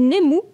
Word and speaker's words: Nemu: Nemu mag c'est ça alors on dit nemou mais ouais c'est ça